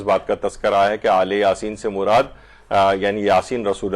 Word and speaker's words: آل یاسین: سلام علی آل یاسین، عام طور پر اس کو جو تلفظ کیا جاتا ہے کہیں الیاسین کچھ لوگ کہتے ہیں، لیکن مختلف جگہوں پہ قاریان جو ہیں وہ آل یاسین، اور روایات کے اندر